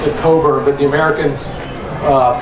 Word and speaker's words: Cockburn: pronounce his name um uh Admiral Coburn always pronounced it cober but the Americans uh pronounced it cockburn much to his irritation um but I'm going